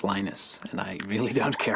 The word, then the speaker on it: Linus: i speak finnish it's linos when i speak english it's linus and i really don't